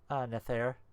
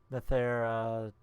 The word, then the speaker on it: Nathair: Nathair. Nathair, it's like Scratch Hatch or something, but it's not. One that rhymes with hair.